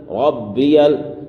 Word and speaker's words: ربی: سبحان ربی الاعلی، سبحان، یہاں پر ہا کو ظاہر کرنا ہے، سبحان ربی ربی، یہاں پر تشدید ہے با میں، اس لیے تھوڑا سختی کریں گے، ربی الاعلی، سبحان ربی